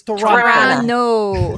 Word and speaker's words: Toronto: It's Toronto. Toronto. You don't Toronto, pronounce the last okay?